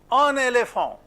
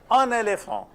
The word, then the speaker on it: un éléphant: How do you pronounce this? Un éléphant. Un éléphant or un éléphant? Un éléphant. On what basis do you do this? When there is a liaison, liaison is a very important concept.